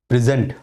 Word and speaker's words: present: Zent has got stress. The stress is on the second syllable.